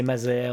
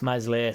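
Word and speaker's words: Meslier: weeks he's out so obviously mesle will be silent s will be back by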